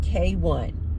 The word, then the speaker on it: kwn: Her name is pronounced K1, but it's spelled KWN.